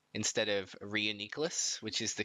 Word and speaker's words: Reuniclus: I see Alex you were complaining about Paul pronunciation and I think you called it Nicholas instead of Rhea necklace which is the correct pronunciation reuniclus and I'm very disappointed in you does anyone